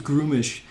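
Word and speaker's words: Gruumsh: So Grummish is that's how I've always pronounced it. Okay. I'm sure someone else is going to be like, it's Groomish. Fine, great, no problem.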